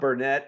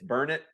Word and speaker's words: Burnet: And then not Burnett, it's burn it, darn it. Can't you learn it?